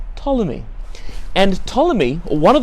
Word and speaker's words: Ptolemy: the ptolemies with the silent p-p-t-o-l-e-n-y ptolemy but pronounced ptolemy and ptolemy or one of the ptolemies built